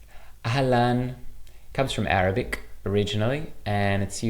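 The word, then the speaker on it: אהלן: This word is pronounced alan. Ahlan comes from Arabic originally,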